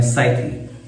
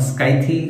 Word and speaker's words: Scythe: इसका नाम है साइथी। तो कई लोग उसको पता नहीं क्या प्रोनाउंसिएशन है, हजामत स्काइथी, बट मुझे लगता है साइथ इज द राइट वर्ड।